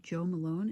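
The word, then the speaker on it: Jo Malone: And he said it was Lime, Basil, and Mandarin by, I think, Joe Malone is how you say it.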